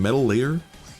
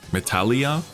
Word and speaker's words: Metallia: Metal layer. Meta or Metal layer. Meta. Hm. Otherwise them doing like stons. They are Metallia. Oh, Metallia. Okay. I pronounced it wrong.